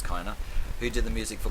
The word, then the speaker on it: Kiner: The other composer as well is Mr. Kiner, I think it's pronounced, or Kiner, I'm pretty sure it's Kiner, who did the music